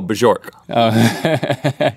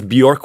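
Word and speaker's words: Björk: issue with your pronunciation of Bjork. Oh, Bjork.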